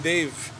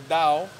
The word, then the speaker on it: Dave: when I came here, they couldn't say my name Dave. Oh, same story. Same as Myanmar. So they started say Dao, because the V is like Ao. So Dao.